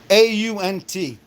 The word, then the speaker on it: aunt: AU N T. In this part of the country, it's pronounced the same as the insect.